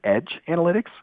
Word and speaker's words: EdjAnalytics: So just quick point of reference, we're actually going to pronounce it EdjAnalytics.